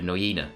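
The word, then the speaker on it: Nuyina: The Noyina, as it's pronounced, as I heard that many times this trip. So it's Noyina. it's an Aboriginal word.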